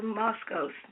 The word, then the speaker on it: Moskos: This gentleman here, Peter Redwine, how you pronounce his name? Peter Moskos. Moskos.